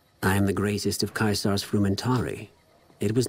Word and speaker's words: Caesar: I am the greatest of Kaisar's frumentari. It was not a challenge to find you. Nor is this my first visit to the Strip. Okay, why does Kaisar... And I believe it's pronounced Caesar, but why does Kaisar want to see me?